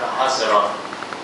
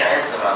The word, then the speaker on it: عذراء: مش عزرا، معرفش ليه بينطقوا عزرا، هي عذراء يا جماعه، اقروها في الانجيل. انا لما اشك في كلمه اشوف التشكيل بتاع الكتاب المقدس. عذراء، كتير يقول لك سفر عزرا، انما هو الصح بتاعه سفر عذراء.